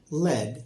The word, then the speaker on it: led: LED is pronounced lead, and so is LEAD.